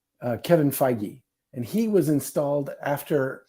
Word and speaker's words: Feige: said just this little side weave is he pronounces his name feige uh kevin feige and he was installed after aviarad when aviarad